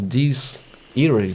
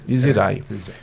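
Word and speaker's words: Dies Irae: Recentemente foram convidados pelo selo Diz Irae, né? A pronúncia é em latim, se eu não me engano. Diz Irae.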